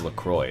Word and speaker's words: LaCroix: lacroix Oh pronounce lacrosse it's actually pretty much Lacroix as much as I hate to admit it it's actually pronounced Lacroix it should be like